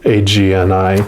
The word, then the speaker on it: agni: their agony is dim agni is described as inner fire or sacred intelligence i may pronounce that wrong too it's agni just in case it